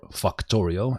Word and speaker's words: Factorio: So here in the videos we were playing Factorio, or Factorio as it's correctly pronounced.